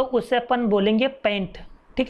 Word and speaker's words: pent: तो उससे अपन बोलेंगे पेंट, ठीक है ना, पेंट, ठीक है। ऐसे कार्बन एटम अगर अपने पास में 5 कार्बन एटम आते हैं तो उससे अपन बोलेंगे पेंट, ठीक है, ओके। PANT नहीं, PENT, ठीक है ना।